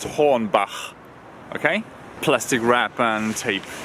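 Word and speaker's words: Hornbach: Home Depot which is called horn ba it's pronounced horn ba okay plastic wrap and tape do something strange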